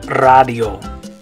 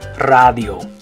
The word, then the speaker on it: radio: We'd say radio, but remember in Spanish the A is going to make an ah sound. So in Spanish you say radio. So instead of radio, you're going to say radio.